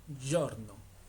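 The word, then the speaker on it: giorno: Ahora, esto de acá se pronuncia la g y o se pronuncia como si fuera una y o. Entonces quedaría como yorno.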